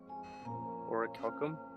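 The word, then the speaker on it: orichalcum: I'm curious if anyone knows how to properly pronounce that. Oracalum. Oracum. So, uh, you might have heard about that in video games. Oro Calcum is supposed to have mystical properties.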